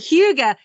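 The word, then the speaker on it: hygge: g but I guess they pronounce it they pronounce it Huga and it's this whole big it's like your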